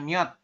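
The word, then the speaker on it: 몇: Kemudian ada lagi yang ini terakhir itu dibacanya miot ya. Miem, yo dan ciot di akhir dibaca t. Jadi miot.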